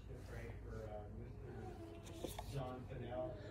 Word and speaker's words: Fennell: John Fennell.